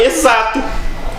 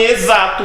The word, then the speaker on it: exato: É igual em exato. A gente pronuncia o X, mas não é o X que a gente está pronunciando, a gente está pronunciando o Z.